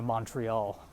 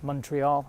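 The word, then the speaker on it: Montréal: flight I'm going to Montreal that's not how you say it it's Montreal is that how I never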